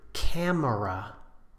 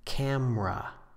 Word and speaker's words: camera: For example, the word camera with three syllables, we normally pronounce with just two. Camera.